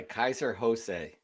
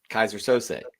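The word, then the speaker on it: Keyser Söze: By the way, Kaiser Jose. I hope that's how you pronounce it. So, just like in the movie, Bryan Singer's movie. Come on, Kaiser Sose.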